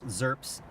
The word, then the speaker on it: XRP: XRP can be pronounced ZERPs.